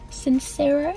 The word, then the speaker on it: Sincero: It's the You Are a Badass one by Jen Sincero, is how you pronounce it.